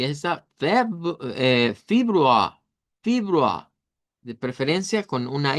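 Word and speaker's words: Februar: Recuerden que aunque está ahí una E, lo ideal es pronunciarlo como una I. Y nos va a sonar como fibrua, fibrua.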